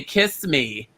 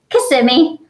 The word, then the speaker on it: Kissimmee: And Diana and Lily, I always say kiss me that you're from, but how do you say it? Kissimmee.